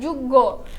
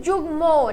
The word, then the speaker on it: যুগ্ম: যেমন হচ্ছে যুগ্ম যুগ্ম আমরা কিন্তু এখানে বলি না যুগ্য আমরা বলি যুগ্ম ঠিক আছে যুগ মকে এখন দেখ আচ্ছা এখানে দেখো হচ্ছে উদাহরণ কিছু দেওয়া আছে।